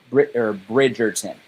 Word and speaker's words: Bridgerton: Bridgerton.